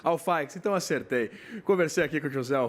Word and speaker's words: Alfaix: Qual é a pronúncia correta, então? Eu que faço a pergunta. É Alfaix. Alfaix, então acertei.